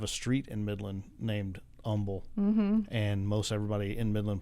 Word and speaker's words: Humble: I'm from Good Old Humble Texas no we don't pronounce the h and um yeah that's